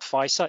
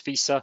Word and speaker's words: FISA: how to pronounce it it's not ficer it's visa 702 executive order 12333 had